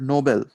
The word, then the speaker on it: Nobel: play on the word nobel right noble even though it's pronounced the same as noble means something different nobel